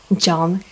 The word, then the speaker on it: John: Давайте обратим внимание с вами, что в слове John H не читается. Она у нас молчит.